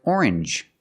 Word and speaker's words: orange: to strangers very good usually when you see NGE it makes the um sound like orange or exchange you make the n Sound not the nasal sound just um and the J like